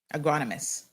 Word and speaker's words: agronomist: Agronomist. That's how you pronounce it.